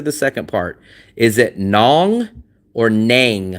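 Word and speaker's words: Nẵng: Nang rhymes with sang or rang, right? And I say it's nong that rhymes with hong or kong.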